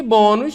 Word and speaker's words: bônus: E bônus, né? Bônus terminou em US, paroxítona, vai receber, então, o nosso acento.